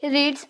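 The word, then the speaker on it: read: फिर रीड का third form क्या होता है, स्पेलिंग सेम ही रहता है लेकिन हम प्रोनाउंस करते वक्त रेड करते हैं।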